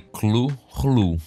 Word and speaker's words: Cthulhu: Na verdade, segundo Lovecraft, o nome da criatura seria incompreensível para os humanos, mas a pronúncia seria algo próximo de Cthulhu, de uma forma bastante gutural.